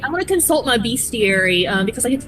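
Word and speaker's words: bestiary: Fun fact, I always thought it was pronounced best diary.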